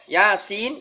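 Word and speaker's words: يس: ayat pertamanya juga Yasin cara bacanya Yasin Nah ya Ini dibaca bukan harokat tapi sesuai dengan nama huruf ya' kita ingat kemarin huruf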